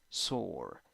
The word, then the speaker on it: sore: cough cough cough nice seven four letters three sounds e goodbye e you don't pronounce it and the vowel sound is o sore sore okay now six letters here